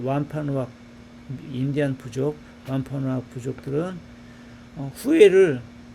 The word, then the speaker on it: Wampanoag: With the Wampanoag people, 완파누악 부족 사람들 on whose land 하면 그들의 땅에 우리가 바로 지금 서 있는 완파누악 부족 사람들 그런 얘기를 해요. 완파누악이라고 발음하네요. 맞죠?